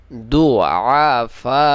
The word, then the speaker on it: ضعفاء: আনহারু লাহু ফিহা মিন কুল্লিস সামারাতি, মিন কুল্লিস সামারাতি ওয়া আসাবাহুল কিবারু, ওয়া আসাবাহুল কিবারু ওয়া লাহু যুররিয়াতুন দুআফা, দুআফা, দুআফা, এভাবে উচ্চারণ হবে।